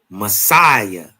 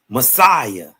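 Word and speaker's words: Masaya: It's called Messiah. Huh? That's exactly how you say it. Messiah and the city could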